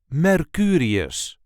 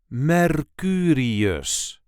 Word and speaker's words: Mercurius: This is the way we say Mercurius. Mercurius. There is a light emphasis on the second syllable, Mercurius.